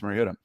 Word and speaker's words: Mariota: What did and I said it right that time, Marcus Mariota.